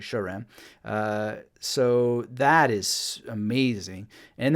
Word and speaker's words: Saram: I used to pronounce it Saram, but I learned that it's actually Sharam.